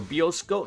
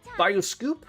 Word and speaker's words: bioscoop: Go about once a week to the bioscoop or bioscope. No, bioscoop.